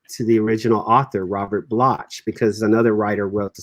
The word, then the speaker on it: Bloch: pronounced Bloch, but it's Bloch. spelled Bloch.